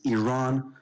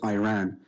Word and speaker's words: Iran: the Iranian people but you're pronouncing our country's name wrong our country is named Iran not Iran please once and for all